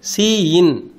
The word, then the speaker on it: cin: Predefined identifier called cin. So predefined identifier is the first operand, that is pronounced as Cin. Cin means C input, right?